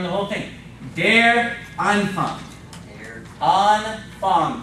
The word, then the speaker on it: Anfang: Anfang. Both of those A's are long.